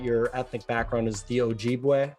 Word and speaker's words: Ojibwe: ethnic background is the ojibwe tribe if i'm pronouncing that correctly ojibwe pretty close ojibwe okay so i was wondering